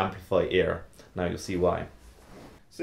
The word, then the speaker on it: Amplifiear: called the amplifier ear now that isn't just me mispronouncing something it's actually called the amplify ear now you'll see why